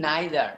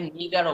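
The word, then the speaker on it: neither: মি নাইদার, মি নাইদার। আবার এটাকে নিদারও বলা যায়, মি নিদার অথবা মি নাইদার, দুটো উচ্চারণই সঠিক আছে।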